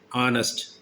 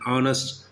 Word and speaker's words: honest: ஆனஸ்ட், ஹெச் is silent here. ஆனஸ்ட், hour, halt, there the H sound is pronouncing. So where The vowel sounds are pronouncing, we have to use an honest man, an epic journey.